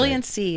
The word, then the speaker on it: Brilliancy: Brilliency is the name of the company. Brilliancy.